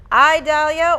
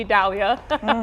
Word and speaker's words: Idalia: I Dalia or E Dalia? It is. Definitely E Dalia It is.